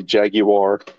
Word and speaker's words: Jaguar: Jaguar. Or like the British say, Jaguar.